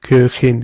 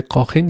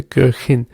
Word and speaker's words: Köchin: You see, you have to also pay attention to the umlaut. Köchin. You don't say Kochin, you say Köchin.